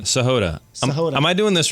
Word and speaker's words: Sahota: Sahod.